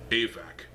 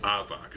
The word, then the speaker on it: Avak: I'm still waiting on, I will reveal it now, Avac, the Black Piraka, or as Avak as I used to call him. It's yeah, pronunciations are weird.